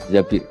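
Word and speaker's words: الزَّبِير: Di hadis ini bukan bacanya bukan Zubair, tapi Zabir.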